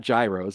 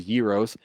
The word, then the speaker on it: Gyros: pronounced that correctly because it's not Gyros a Yos um it's great um